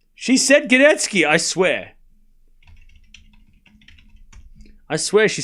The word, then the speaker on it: Gadecki: She's like, "It's actually pronounced Gdetski.